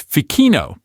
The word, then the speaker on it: Ficino: is going to scream Ficino, right? But nope, you know the rule now. That ch is a trap. It's actually a hard K sound, so it's Ficino. Hear that? That sharp, clear K sound.